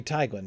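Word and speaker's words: Teiglin: So that little patch of woods south of the sorry, Taglin is one of those rivers that I mispronounce. It should be Tiglan, shouldn't it, Murray? Probably. Technically. Yeah. Sure. Well, EI is usually I, right?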